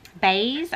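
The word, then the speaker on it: Béis: saw a review on Bays I'm assuming is how it's pronounced it's b e i s and I ended up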